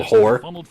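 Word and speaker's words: Hoar: You know there's a Tuscan Raider, a sand person in that called Hor? It's H-O-A-R. How else do you pronounce it? It's Hor. Look, the first Ho-R?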